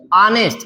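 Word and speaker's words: honest: अब यहां पे ऑनेस्ट में यस साइलेंट होता है, इसलिए बोला तो जाता है ऑनेस्ट।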